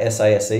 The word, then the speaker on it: SASE: I like SASE because you can say it, S-A-S-E, SASE.